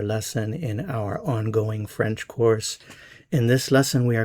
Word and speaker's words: cours: Je cours. Tu cours. Il, elle, on court. Notice these three are pronounced the same.